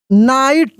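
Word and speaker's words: knight: Listen to मी द नाइट अब यहां के साइलेंट है जी ए साइलेंट है नाइट सॉ अ ब्राइट यहां जी एच साइलेंट है ब्राइट साइन क्या है साइन।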